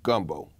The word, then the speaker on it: gumbo: The name gumbo comes from a West African word for okra, pronounced ng gumbo, or in a shortened form, gumbo.